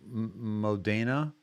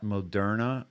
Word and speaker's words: Moderna: Um and he also Modana I think he mo instead of Moderna I think it was Modana mispronounced a few things on purpose and and yeah